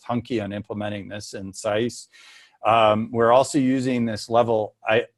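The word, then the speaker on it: CICE: It contains version 5.1.2 of the Los Alamos sea ice model, pronounced SICE.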